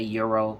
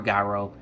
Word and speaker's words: gyro: but i had got like a euro or gyro whichever way you want to pronounce it where i'm from we call it gyros but whatever um i